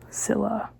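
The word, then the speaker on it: Scylla: their next obstacle is Skil and Zilla. Sila, I don't think you pronounce the C.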